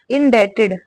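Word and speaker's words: indebted: है for ever हमेशा इन डेटेड इन डेटेड इसमें जो बी होता है वो साइलेंट होता है ठीक है यानी कि बी को हम प्रोनाउंस नहीं करते हैं इन डेटेड का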